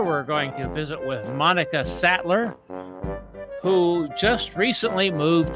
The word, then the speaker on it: Monika: with Monika Sattler do I have your name pronounced right Monica okay okay good very good you've got a